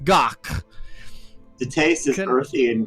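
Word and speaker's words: gagh: it's it's a Klingon delicacy of serpent worms pronounced doc the taste is mercy in gaming it's not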